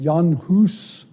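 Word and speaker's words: Jan Hus: John hus of Prague I guess they pronounce it yanus he was a contemporary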